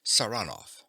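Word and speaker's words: Saranoff: him round this way he pronounces the name with a stress on the second syllable saranov nicola yes sir he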